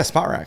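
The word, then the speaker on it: Spotrac: question though on how to say it yeah spot rack oh it is spot spot yeah um so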